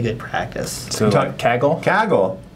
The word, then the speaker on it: Kaggle: Kaggle. We believe we're pronouncing it correctly. Some people say Kaggle, but I think that's a different thing.